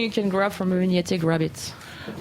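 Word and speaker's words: Envínate: I don't know if I'm pronouncing it right. Envinante? Yeah, Envignate.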